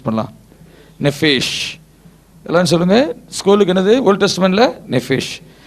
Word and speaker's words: nephesh: என்னது, எப்படி ப்ரொனவுன்ஸ் பண்ணலாம்? நெஃபேஷ்.